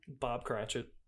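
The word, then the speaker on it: Cratchit: And the or Cratchet. How do you say that name? Bob Cratchet.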